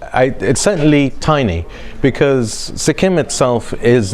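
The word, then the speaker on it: Sikkim: first organic State Sim Sim that's how you pronounce it sikim now has become indan first fully organic State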